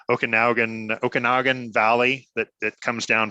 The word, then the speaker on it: Okanagan: I'm gonna say it wrong okay now again Okanagan Valley that that comes down from BC from